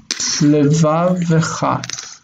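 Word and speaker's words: לְבָבְךָ: Kol levavecha. Kol levavecha. This means all your heart. Kol levavecha. The word for heart is levav. Levav, heart. So levavecha, the first syllable reduces to shva.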